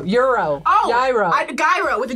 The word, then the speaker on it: gyro: Gyro. Euro. Oh! Gyro. Gyro with a G. No, right? Yeah, but you're not supposed to pronounce G.